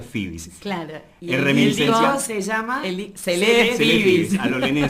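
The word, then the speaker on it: Phoebe's: el disco le digo esto se pronuncia fibis claro se llama a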